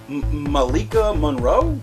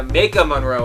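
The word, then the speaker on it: Maika Monroe: Malikica Monroe. Yeah, Ma Monroe. I think I don't think there's an L in that one. Ma Monroe. I added the L.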